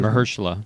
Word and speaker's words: Mahershala: And then he met, is it Mahershala? How do you pronounce it? Mahershala.